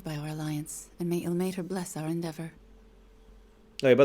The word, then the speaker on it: Ilmater: Hey, by the way, there's like 3 or 4 different ways they pronounce Ilmater, Ilmater, Ilmater. I say Ilmater because that's the one I hear the most often.